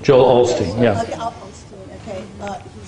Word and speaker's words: Joel Osteen: Joel Osteen, yes.